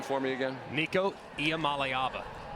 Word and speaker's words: Iamaleava: And can you pronounce Nico's name for me again? Nico Iamaleava.